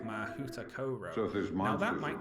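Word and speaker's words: Mahoutokoro: For instance, the Japanese school is called Mahuta Koro. Now that might not sound right to you, but that is the pronunciation guide given on the website.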